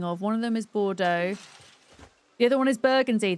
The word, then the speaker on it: Bordeaux: One of them is Bordeaux.